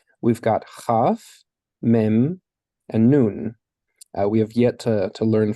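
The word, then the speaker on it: נון: we would expect uh noon is pronounced as in nail and samik is pronounced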